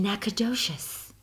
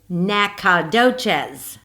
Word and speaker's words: Nacogdoches: to pronounce that name I can always tell if someone is not from Nacogdoches because they will say I live in Nacogdoches nah if you're from Nacogdoches you say Nacadoches in Nacogdoches in 1975.